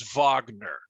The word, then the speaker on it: Wagner: Wagner, really, the correct way to say that is Wagner.